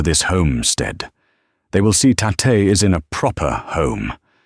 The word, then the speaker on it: Tate: "This is my sister, Tate." He pronounced it Ta-te.